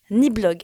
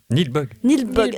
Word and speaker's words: Nilbog: Donc c'est la famille Waits qui part en vacances dans le village de Niblog. Alors Niblog, si vous l'écrivez sur votre... Nilbog.